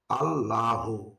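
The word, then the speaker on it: اللهُ: জবর লা হা পেশহু আল্লাহু এখানে আল্লাহু কে পড়তে হবে আল্লাহু কেননা লাফে আল্লাহর পূর্বে যদি জবর অথবা পেশ হয় তখন লাফে আল্লাহর লাম হরফকে মোটা করে পড়তে হয় এজন্য পড়তে হবে আল্লাহু হামজা সদ জবর আস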